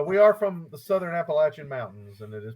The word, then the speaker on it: Appalachian: No, we are from the Southern Appalachian Mountains, and it is pronounced Appalachian.